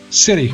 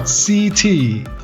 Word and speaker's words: city: It's city. City. Quickly, city. Not CT.